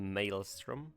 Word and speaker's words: Maelstrom: The Maelstrom?